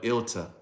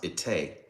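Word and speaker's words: Ittai: But Ilta, well, it's pronounced Itay, but Itay of Gath, he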